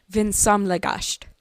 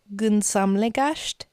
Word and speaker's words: vinsamlegast: Vinsamlegast. Gunsamlegast. Vinsamlegast. Vinsomlegast.